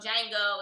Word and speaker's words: Django: And he texted me on Valentine's Day, and he sent me a picture of Django, and it said, "You gonna get the D tonight." The D is silent, but you gonna get the D tonight.